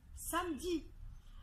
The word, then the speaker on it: samedi: exemples c'est le mot samedi samedi alors samedi après le m il y a bien eu et pourtant en prenant soin on dit on dit pas ça me dit on dit samedi alors le mot par